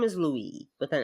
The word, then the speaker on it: Louis: It's not Louis. It's Louis. But it's spelled Louis with an S. No, it's like spelled like in French. It would just the S is silent.